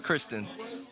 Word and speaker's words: Christon: How do you say it? Christon. Oh, Christon. Like a girl's name.